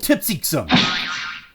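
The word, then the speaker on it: Kltpzyxm: question about that name, and that's how to pronounce it backwards. That's not it. Oh, come on, get it right! It's called Tipsy-Xum!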